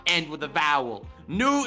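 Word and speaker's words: nous: end with a vowel nu is spelled n-o-u-s with a silent s why is there always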